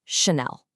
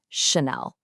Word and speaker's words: Chanel: It's not a hard ch sound, like in the word chair. The French ch is a really soft sh sound, so it's just Chanel. Super clean, 2 syllables, Chanel.